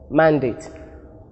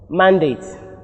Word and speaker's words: mandate: Examples are contest, present, mandate, and record. Their verb form carries their stress on the second syllable, and note that the diacritic marks are indicated here to show us where the stress falls.